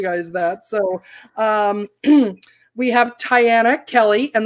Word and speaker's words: Tyana: So we have Tyana Kelley. And the way I learned how to pronounce her name correctly is it rhymes with Diana.